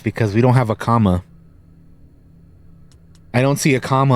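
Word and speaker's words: kama: I don't see an option for a comma on any of these, which doesn't make any sense because ARC troopers in particular are supposed to have commas. And comma is spelled K-A-M-A, not comma like punctuational commas.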